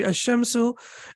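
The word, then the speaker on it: الشمس: we can see here the lamb is not pronounced and the pron the correct pronunciation will be ashamsu and here the lamb is pronounced and the correct pronunciation will be alamaru.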